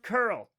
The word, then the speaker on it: cURL: Curl, pronounced curl.